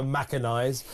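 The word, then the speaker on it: Machinize: uh operation maciniz uh we've been trying to work out how you pronounce that so we're going for maciniz uh m a c h i n i z e Macan 33 pretty dramatic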